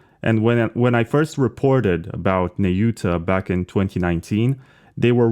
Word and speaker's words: Nayuta: I'm not sure how we're going to pronounce it going forward, because in American English you say Nayuta, but in Japanese it's Nayuta.